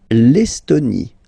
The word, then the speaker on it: Estonie: L'Estonie. Final E, not pronounced.